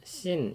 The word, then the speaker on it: 신: 라는 것으로 가게 되었습니다 원래 발음대로 읽으면 씬 이라는 이름의 광야 입니다 거기서 백성들이 의무 3와